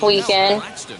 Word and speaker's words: The Weeknd: Now at the plate, here is it's pronounced weekend. He's 0 for 1 thus far. It doesn't have the extra E in it.